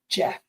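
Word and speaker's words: Geoff: work with man flu I included this name because uh you know it's an interesting one from a pronunciation perspective Jeff can also be written with a J jouf Jeff Jeff's of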